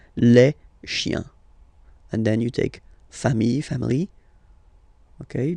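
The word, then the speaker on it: familles: And then you take family. Okay. Just add this final s and you get the plural form le. Okay. Remember singular form. Same pronunciation but you put this s. Okay. Final s not pronounced.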